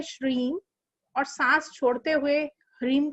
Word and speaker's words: ह्रीम: Second चीज ये है कि हमें सांस लेते हुए श्रीम और सांस छोड़ते हुए ह्रीम का उच्चारण करेंगे।